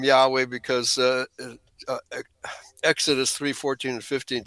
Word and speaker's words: Yahweh: And it translates to Yahweh. That's the way it's pronounced by in Hebrew actually.